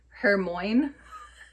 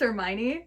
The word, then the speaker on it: Hermione: thought his friend, who's a female's name, was Hermione, and it's Hermione. Yeah. And I was like, this is not correct. It's Hermione.